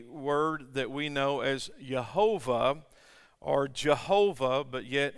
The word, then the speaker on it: Jehovah: that we know as jehovah or jehovah but yet in hebrew it's not pronounced with the j it's a y jehovah and then jehovah god jehovah elohim now jehovah or